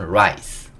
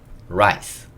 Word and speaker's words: rice: 하지만 마지막 이는 묵음이고요. 그래서 요거는 rice, rice 라고 읽을 수 있고, 요거는 여기